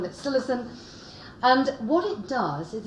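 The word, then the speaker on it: psilocin: converted into silicon now some people call it silacin i think it's just a pronunciation thing i call it silicon and what it does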